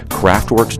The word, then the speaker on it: Kraftwerk: the rock snobs dictionary craftwork alternate pronunciation craft work a cutely German pop